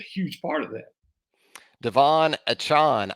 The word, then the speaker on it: Achane: Devon Achane. I guess that's how he pronounces it now. I was going on A-Chain. Well, he told us A-Chain. And now it's Achane? Did he switch it?